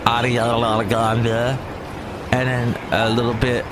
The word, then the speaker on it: Ariana Grande: Played the new Ariana Grande, and that's how you say it, Ariana Grande.